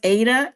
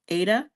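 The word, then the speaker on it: AIDA: I'm thinking this is is pronounced Ada. A I D A. Ada.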